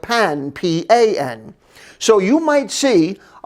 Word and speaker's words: pain: french things is bread so the word bread is pan it's spelled like pain but it's pronounced like pan p-a-n so you might